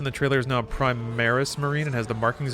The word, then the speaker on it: Primaris: The Primarius Protocol. Is it Primaris or Primarius? Am I saying it wrong? Hold on. Essentially, it makes Space Marines even more insanely strong. Primaris.